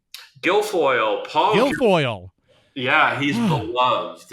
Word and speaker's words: Guilfoyle: How do you pronounce his last name? Guilfoyle.